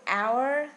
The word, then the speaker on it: hour: Um and also the word hour like 1 hour, 2 hour, 1 hour 60 minutes. So we don't pronounce the letter H.